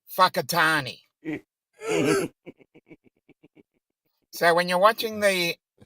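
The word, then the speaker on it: Whakatāne: k i t n e and it is pronounced whakatani so when you're watching the that's what I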